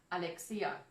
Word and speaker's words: Alexia: much alex i need to practice how i pronounce your name alexia yeah okay because i think we're just so used to alexandra or alexander or alex alexia yeah okay i'm sorry i've been pronouncing this incorrectly that's all right and